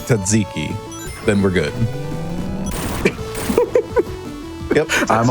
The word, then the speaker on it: tzatziki: as we all know that it's pronounced tzatziki, then we're good.